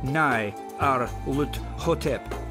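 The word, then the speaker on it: Nyarlathotep: The director of the museum pronounced it as Nai Ar Lut Hotep.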